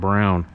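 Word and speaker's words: Blrown: we mushed up the two words black and brown and he completely responds to his name it's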